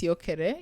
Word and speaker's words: Syokere: It's pronounced Siokere. It's a word in Ataso, which means all of us. But it's spelled Syokere.